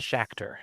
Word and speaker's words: Schachter: Schachter. Mm-hmm. But not, as he says, not like Star Trek.